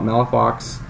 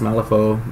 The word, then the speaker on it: Malifaux: So like Malifaux, some people call it Malafox, but I think it's pronounced Malifaux, the proper French way of pronouncing it.